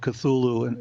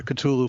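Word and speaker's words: Cthulhu: of cthulu and or people pronounce it cthulu in different ways I prefer cthulu for reasons that'll become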